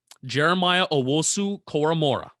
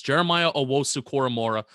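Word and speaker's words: Jeremiah Owusu-Koramoah: JOK, Jeremiah Owosu Koromora. Pronounce that right.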